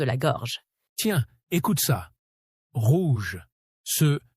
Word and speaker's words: rouge: Si vous prononcez rouge comme un espagnol, en mode rouge, en roulant le R comme en espagnol, ça sonne faux tout de suite. Et si vous le dites comme un anglais, en mode rouge, avec un R doux et arrondi, pareil, ça ne passe pas.